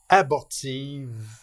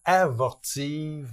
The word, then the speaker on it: abortive: On aurait tendance à dire avortive, mais c'est abortive. On est allé sur Internet tous les deux pour être certain d'avoir la bonne prononciation et c'est effectivement, c'est bien abortive.